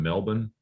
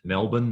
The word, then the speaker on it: Melbourne: I think it's about a 3-hour drive from Melbourne. They pronounce it Melbourne, not Melbourne.